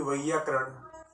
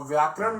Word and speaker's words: वैयाकरण: उसको ज्ञान बोलना है, संस्कृत भाषा ज्ञान, और व्याकरण नहीं बोलना है, बल्कि क्या बोलना है? वैयाकरण।